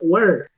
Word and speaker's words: were: Decíamos que were, para este caso de were, no voy a pronunciar ese último sonido, esa última letra no va a sonar, es una letra silenciosa. Entonces, ¿cómo quedaría? Yo digo were, ¿sí? Hasta el sonido de la R pronunciamos were.